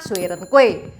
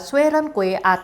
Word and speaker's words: Xue Rengui: obey him he is Xue Rengui which in Indonesia is famous for the hokkien pronunciation Si Jin Kui / Sie Jin Kwei hello everyone, my name